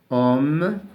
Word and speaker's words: homme: Homme, H. En général, les lettres qui se mettent au début du mot, c'est un H muet.